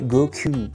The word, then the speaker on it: Goku: 5 au Japon se prononce Go 9 Cu ça fait Goku ça fait Goku Goku